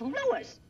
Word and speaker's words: Louis: the plant Lois Lois my name is Lewis not Lewis Jake wins everybody interpolates me name wrong it's Lewis l o u i s Lois uh Louise Lucy